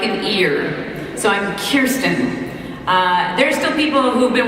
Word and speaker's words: Kirsten: someone on our show mispronounces her name for the 7,000th time. I like to stand right back and go, we're Kirsten. We're Kirsten. Kirsten. Hey, Kirsten, I thought it was Kristen.